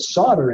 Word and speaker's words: solder: And so they put solder in there, spelled S-O-L-D-E-R, the L is silent.